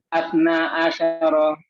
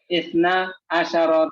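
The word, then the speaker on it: اثنا عشر: Asna asyara taliban. Salah bacanya. Isna asyara taliban.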